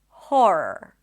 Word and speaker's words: horror: I'm going to start with a more common one, and that is an h sound. Then the or as in for And then horror.